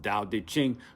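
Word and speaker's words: Tao Te Ching: secret teachings of the dao di ching pronounced dao de ching co-written by mantak chia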